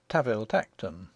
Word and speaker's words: Tanville Tankerton: We are told in an authorial footnote that the Duke's family name, spelt Tanville Tankerton, is to be pronounced Taville Tacton, and one may assume that the name of his country seat follows suit.